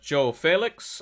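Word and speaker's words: João Félix: him as well another option is uh uh Joe Felix as is correct pronunciation um one goal in the last five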